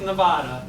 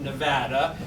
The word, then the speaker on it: Nevada: Not pronounced Nevada, Nevada.